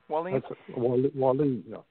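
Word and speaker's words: Wallen: Wallin.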